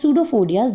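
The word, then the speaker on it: pseudopodia: Okay, so those are known as pseudophodias. These are called pseudophodias, and which are known as false feet. Pseudo means false and podia means feet. Okay, here p is silent, so we call it pseudophodia.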